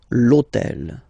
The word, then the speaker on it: l'hôtel: starts with H, but remember that in French we don't pronounce H, okay, so basically the first sound of the word is the vowel O, okay, so for the same reason, needs to disappear.